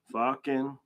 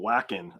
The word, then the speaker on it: Vakken: Vakken. By the way, I pronounced that correct now because you guys told me I was saying whacking, I think, in the beginning.